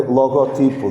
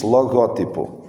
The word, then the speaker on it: logótipo: Não se diz, nem se escreve logotipo, diz logótipo.